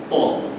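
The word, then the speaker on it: ط: So we're not saying Twa. It's not TW. It's not Twa. It's Ta.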